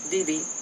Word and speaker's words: Wee-Wee: Tiel was a good mother and requested the middle of the night work so that she could be with Wee-Wee, pronounced Vivi, during his waking hours.